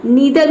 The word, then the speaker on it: neither: अब यहाँ देखिए: आप इसे 'neither' या 'neether' की तरह उच्चारित कर सकते हैं। दोनों उच्चारण सही हैं।